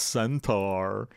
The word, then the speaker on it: Centaur: we're going into a clone centaur centaur but we are actually it's pronounced centaur but we are we